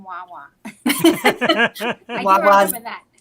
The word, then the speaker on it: Wawa: I wanted to go up to someone and go, "There's no S in Wawa." I do remember that. It's so funny. It was really cool seeing like the Wawa references, and of course